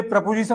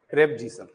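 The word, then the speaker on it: preposition: क्या होता है इसका, प्रेपोजिशन होता है, ना कि प्रीपोजिशन।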